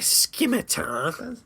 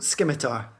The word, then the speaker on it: scimitar: So a scimitar. That's pretty cool. Scimitar with a hard C. Scimitar. The hardest C.